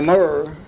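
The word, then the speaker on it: Namur: for you this Roar that I've been mentioning is spelled Roi in the mirror is n-a-m-u-r in Maduro is m-a-j-o-r-o that's a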